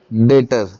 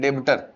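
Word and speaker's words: debtor: डेटर डेटर। B silent होता है। कुछ बच्चे इसको क्या बोलने लग जाते हैं? डेबिटर। डेबिटर नहीं डेटर।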